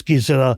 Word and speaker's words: Gisela: No, the German pronunciation is Gisela, and they called him here Giselle.